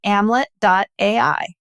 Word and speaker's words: Amlet: Or if you want to learn more about Amlet, we're at amlet.ai and that's amlet rhyming with Hamlet. So Hamlet without the H.